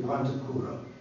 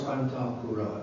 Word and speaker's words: Quanta Cura: It signifies a long syllable as it is a short syllable. Short would be Quanta Cura. Long, it's Quanta Cura. In other words, the ablative instead of the nominative. The nominative is short, the ablative is long.